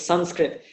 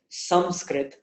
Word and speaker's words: Sanskrit: then skrit, so it's Sanskrit. Now that Anuswara will take on the same shape of the mouth as the sa that follows it, and therefore sa is